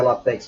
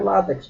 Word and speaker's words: látex: Em X, látex, que não se pronuncia latex, algumas pessoas pronunciam latex, mas é látex.